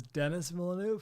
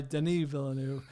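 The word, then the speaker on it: Denis Villeneuve: for years I believe I've been pronouncing Den Vu wrong as Dennis Vu yeah now everything I time I see a behind the scenes with uh Brolin or whoever about some Vu project he just refers to him as Deni so I think the this French Canadian fellow goes by Deni villanu this is my my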